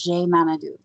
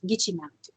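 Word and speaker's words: Gitche Manitou: Like when I was in Turtle Mountain, they said the Great Spirit as Je Manadu. Where on the Red Lake Reservation in Minnesota, where my family comes from, it's Gitche Manadu.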